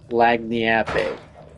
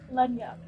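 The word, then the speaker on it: lagniappe: Google someone saying it, because it's definitely not gonna sound like the white Google man going, Lagniape. Do YouTube. How to pronounce.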